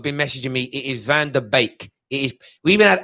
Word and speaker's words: Van de Beek: has confirmed it's pronounced bake is in bake off like baker cake it's van der beek please stop saying van der beek like the dutch have